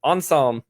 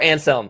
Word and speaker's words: Anselm: is it aquinas or it is an ensem enzyme it was on psalms so or anselm again i've heard it both ways on that one and